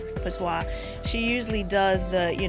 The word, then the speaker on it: Patois: And Patois usually deals with, I pronounced her name wrong before, but it's Patois.